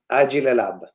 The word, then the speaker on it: Agile Lab: brought to you by aji lelab agile because it's the name of an italian company and that's how we pronounce agile but you can look